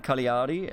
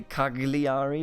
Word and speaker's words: Cagliari: it's a lien for because they're G in within a word is not the G that we have in German so I naturally tend to say Cagliari but apparently it's Carly